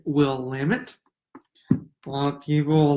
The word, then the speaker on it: Willamette: I've heard a lot of different people pronounce it a lot of different ways, but it's Willamette.